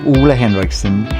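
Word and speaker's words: Ole Henriksen: banana eye cream by Ole Harrison Hendris Henderson. Hendrickson. My name gets pronounced in the most crazy ways. Oola la Ole, but my name is actually Oola Henrikson and I'm the founder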